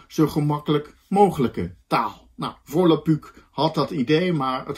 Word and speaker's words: Volapük: Volapük schrijf je met een U-umlaut en dat spreek je ook uit met een U.